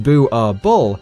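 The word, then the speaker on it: Boerboel: as prey these dogs are illegal in Norway booble pronounced boo our ball is a Dutch Afrikaans word for farmers dog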